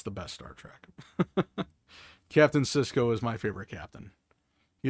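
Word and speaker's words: Sisko: Cisco, like Cisco kid. Yeah, sort of. But it's spelled with an S. S I S K O.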